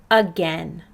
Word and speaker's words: again: is the first one this word does not play fair this word is again we would expect that that vowel team a i would say a but that's not what we hear instead we hear e repeat this word after